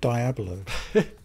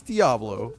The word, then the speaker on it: Diablo: to the PlayStation 4 did you pronounce it die a balloon this is bothering me down Diablo it's Diablo but I've always had